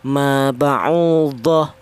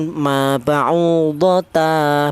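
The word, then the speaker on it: مَا بَعُوضَةً: ini lafal ini maba'udhah, cara bacanya kalau ini wakof jangan maba'udhata, bukan ya. Jadi huruf yang bertanwin fathah di akhir kalimat dibaca mad iwat itu selain tak marbutoh. Cara bacanya tak marbutoh seperti ini. Apabila ini wakof atau di akhir ayat, cara bacanya maba'udhah, seperti itu. Jangan maba'udhata, jangan ya.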